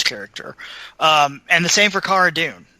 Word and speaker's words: Cara Dune: We have, her name is Cara Dune, but she is referred to as Cara Dune in the show.